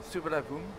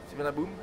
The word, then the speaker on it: Suvarnabhumi: Donc là, c'est Suvarnabhumi. Alors, ça s'écrit S-U-R-V-U-N-A-B-H-U-M. Suvarnabhumi. Avec un I à la fin même. Suvarnabhumi. On ne le prononce pas. Suvarnabhumi. Et on prononce le B un peu comme un P.